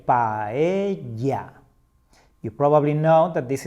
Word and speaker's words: paella: Paella. Paella. Never say paella or pela. When we see two L's, we pronounce it as the Y sound. That's why we say paella.